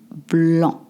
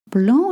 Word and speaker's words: blanc: For a glass of white wine, un verre de vin blanc. Un verre de vin blanc. Blanc is spelled with a C at the end, and a lot of my students say blanc, even advanced students.